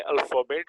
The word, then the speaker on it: अलिफ: ठीक है जी, इसको हम, इसकी प्रोनाउंसिएशन हम करते हैं अलिफ।